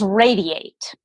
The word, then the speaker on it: Radi8: It's actually, it's Radiate. So Radiate. Sort of a play on the word. Got you. Okay, well, that's clever. Now, just so the listeners know what we're talking about, it's spelled R-A-D-I and then the number 8.